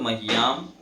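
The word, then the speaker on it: मह्याम्: है जैसे होता है, तो मह्याम ह आधा होता है, ये पूरा होता है उसमें, मह्याम, ठीक है।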